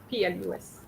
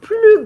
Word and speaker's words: plus: Now, I have noticed that you pronounce the S of plus, of plus. All right. When uh, you are comparing, you don't use the S. Okay? You would say il est plus grand que moi.